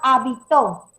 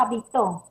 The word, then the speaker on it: habitó: Las tres palabras que estoy mencionando son diferentes a pesar que tiene las mismas grafías, las mismas sílabas. Pero, ¿en qué se diferencia? Se diferencia por una tilde.